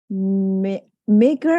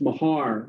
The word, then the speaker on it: Mahar: it's an unusual name it's Mahar we pronounce it okay Robert I was in Ireland I would pronounce it like m-a-r-r so okay okay just